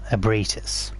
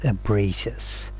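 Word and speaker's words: Ebrietas: Yeah, so I think her name is pronounced Ebritis, daughter of the Cosmo.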